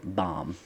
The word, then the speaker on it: Bam: like you're the 25th bam now they call him i'm sorry bomb it's about bam bam but they pronounce it bomb so he's the 25th